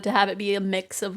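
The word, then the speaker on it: Mx: I think it's pronounced mixed or mixed, but like I only ever like read it I think I've only like I don't know.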